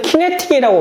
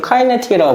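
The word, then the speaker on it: kinetic: 카이네틱이라고. 영어쌤들은 키네틱이라고 발음하시고요. 물리 교수님들은 카이네틱이라고 발음하시는데 저는 물약가 나왔으니까 카이네틱이라고 할게요.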